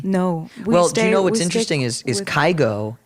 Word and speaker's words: Kygo: well what's interesting is kygo in Norwegian is actually key go yeah his name is